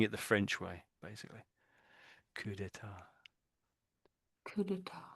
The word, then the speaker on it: coup d'état: Oh, that's with an S there. So I don't think there's any difference, is it? Coup d'état. coup d'état, So there's an S there. It makes no difference to the pronunciation.